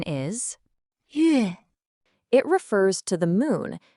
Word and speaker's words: 月: Its pronunciation is 月 It refers to the moon and also to months, the natural way to measure time in lunar calendars.